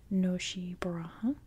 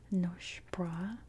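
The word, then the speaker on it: Nosy Boraha: In American English, it would be pronounced Noshi Baraha. In Malagas, it's more Nosh Bra.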